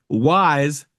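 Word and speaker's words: Y's: into an interview with Wise. That's spelled the letter Y apostrophe S guy.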